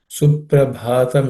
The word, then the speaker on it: Suprabhatam: The first word Suprabhatam idam, the bha is aspirated.